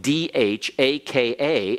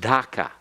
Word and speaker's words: Dhaka: with it, so that if you have a candle in front of your face and you say Dhaka, the flame should waver. All right? So it's actually supposed to be spelled D-H-A-K-A and pronounced Dhaka. But the British say Dhaka.